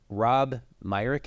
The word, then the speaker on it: Myrick: is a coach at The Other Side village Rob Myck am I pronounce that correctly yes you are thanks for